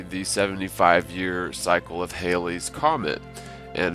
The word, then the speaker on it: Halley: kick off this show I remember growing up the comet was pronounced by everybody as Halley's Comet however the current accepted pronunciation is to be said like valleys comets so like Halley's Comet furthermore there are accounts